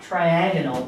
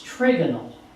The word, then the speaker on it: trigonal: Hexagonal, well, trigonal, it's not triagonal, but it's trigonal, is the shape for this.